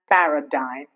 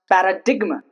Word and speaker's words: paradigm: See when I said when I pronounced paradigma, it's wrong. But when I say enigma, it's right. Stigma, it's right. But paradigma, that's wrong. Diaphragma, that's wrong. It's diaphragm paradigm but it's enigma and stigma.